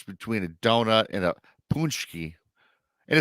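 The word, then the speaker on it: pączki: ask what's the difference between a donut and a punchki. And it's spelled Pacyzki, but it's spelled punchki, I guess.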